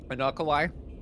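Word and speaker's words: Unukalhai: Unukalai? I've been saying Unukalai. Unukalai?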